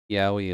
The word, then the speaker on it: yaoi: Maybe I heard of it and I just getting thrown off Yaoi is by boys' your love. amazing Canadian accent. You may hear it pronounced yaoi.